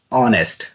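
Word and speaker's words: honest: Question number 14 इज the silent letter is ऑनेस्ट इसको पढ़ते हैं ऑनेस्ट।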